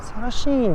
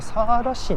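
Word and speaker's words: สารสิน: サラシーンじゃなくてサーラシンの方が多分発音としては正しいんでしょう。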